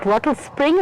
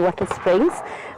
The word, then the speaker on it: Wattlespring: We're here at Wattlespring, and I'm saying it correctly again. I'm not saying Wattle Springs.